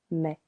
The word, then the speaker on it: mets: Je mets. Tu met silent s il elle il on met.